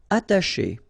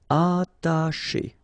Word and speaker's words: attacher: Attacher. Okay, you don't pronounce the double T, okay, ata, but then remember, C and H together, they will produce this sh sound. Attacher, attacher.